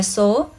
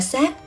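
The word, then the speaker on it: 數: chữ số âm su Thật ra đọc là số thì cũng được vì cũng có nghĩa là nhiều thế nhưng đọc là xác thì hàm ý là rất nhiều lần rất nhiều lần bị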